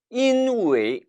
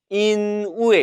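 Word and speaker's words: 因为: 때문에 라는 의미이기 때문에 웨이 4 성으로 발음해야 합니다 그 세 젊은 중국인 들 중에는 이 이후에 인우의 라고 발음하는 친구들이 있는데 이건 잘못된 겁니다 반드시 이누이 이 라고 반은 마셔야 돼요 수희는 항구가 발음으로는 소희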